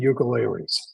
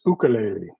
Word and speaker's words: ukulele: And so I figure I should try to pronounce it like the native Hawaiians do.